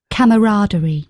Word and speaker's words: camaraderie: So and the French have the Americans have slightly different but we say it as camaraderie.